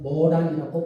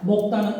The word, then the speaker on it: 모란: 목단이 아니고 모란이라고 불리고 목단은 일본식 발음입니다.